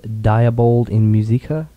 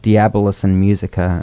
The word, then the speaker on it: Diabolus in Musica: bedrock ep this is diabold in musica uh i think you've mispronounced i think so too yeah i didn't write the answer it's actually called diabolus and musica and it's based close